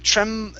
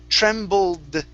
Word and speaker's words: trembled: E ed e d instead of trem tremble Trembled Give me a d sound Trembled There you go